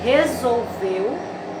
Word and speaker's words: resolveu: Então, ao pronunciar a palavra resolveu, nós temos ela com 3 sílabas, resolveu. E a sílaba mais forte, veu. Então, a sílaba tônica, veu, resolveu.